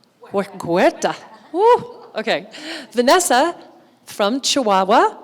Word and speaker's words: Huerta: Okay, Vanessa Huerta, how do you pronounce it? Huerta? Like a G. Huerta.